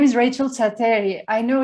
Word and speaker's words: Tsateri: And yes, my name is Rachel Tsateri. I know it's difficult for non-Greeks. So yes, Tsateri, for those who want to remember it. No problem, though, if you mispronounced it.